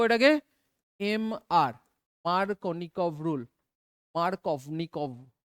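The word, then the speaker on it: Markovnikov: এম আর মার্কনিকভ rule mark of নিক ভি টা উচ্চারণ হয় না আর কি ঠিক আছে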